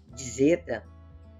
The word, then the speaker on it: zeta: Duas letras, melhor dizendo, vamos pronunciar só como Z, em Zaqueu.